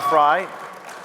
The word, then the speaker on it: Frei: Next, we have David Freiheit, Phonetically, yeah. known as Viva Frei, Fry, to many of you as a notable Canadian